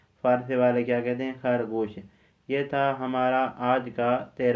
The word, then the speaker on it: خرگوش: کے بعد لفظ خرگوش، آپ نے خرگوش نہیں پڑھنا ہے۔ اگر آپ نے فارسی کا صحیح طریقے سے تلفظ ادا کرنا ہے تو جس طرح میں آپ کو بتاتا ہوں اسی طرح آپ نے ادا کرنا ہوگا، اسی طرح آپ نے پڑھنا ہوگا۔ فارسی کا تلفظ کیا ہے؟ خرگوش، خرگوش نہیں، ہم کہتے ہیں خرگوش، فارسی والے کیا کہتے ہیں؟